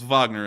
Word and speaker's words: Wagner: around two hours after the Wagner orth Wagner as people are now telling me is pronounced had captured voranesh we